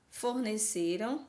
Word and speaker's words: forneceram: Já aqui, ó, tem praticamente o mesmo som. Forneceram, dá a ideia de que tem um aotil aqui, mas não tem. Isso é o que vocês erram comumente, certo? Agora é só vocês pronunciarem a palavra antes de escrever. Forneceram, fornecerão. Olha a diferença.